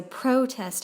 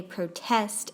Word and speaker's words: protest: syllable that is stressed in English verbs tend to be stressed on the last syllable and nouns on the first you say there's a protest outside but they protest against injustice then in my